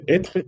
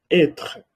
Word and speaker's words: être: Entonces, el verbo être et avoir. Le verbe ser, estar. El verbo être, c'est le verbe ser, estar. Se pronuncia être.